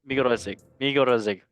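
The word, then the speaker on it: Magyarország: With Switzerland, or if Migorozic is how you say it in Hungarian.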